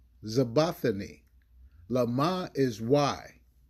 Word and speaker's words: IZaBathNaYa: That's IZaBathNaYa.